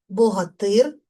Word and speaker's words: Богатир: Богатир богатиря. В називному відмінку наголос падає на суфікс Ир. В родовому відмінку наголос падає на закінчення. Тобто наголос змінює своє місце.